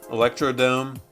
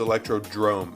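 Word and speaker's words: Electrodrome: It's not Electro-Dome. It's Electro-Drome. It's like the Bernstein Bears and the Bernstein Bears. It's the Mandela effect. It's Electro-Drome, and it always has been. Drome, Electro-Drome is going on D tier.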